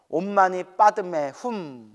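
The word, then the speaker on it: ओं मणिपद्मे हूं: 우리 한자 발음으로는 옴마니 반매훔이라고 하는데 산스크리트어 발음으로는 옴마니 파드메훔이라고 한답니다. 옴마니 빠드메훔 뭐 이렇게 발음하더라고요.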